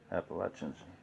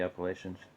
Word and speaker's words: Appalachian: here of the um appalachians appalachians if you want to say it correctly appalachian mountain is pronouncing it okay appalachian people say appalachian okay so that is